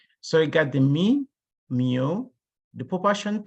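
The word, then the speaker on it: μ: It's called, it's pronounced as mu. Is mu, pronunciation is mu.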